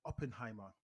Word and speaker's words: Oppenheimer: Oppenheimer. Am I saying it correctly? Oppenheimer. Yeah, Oppenheimer.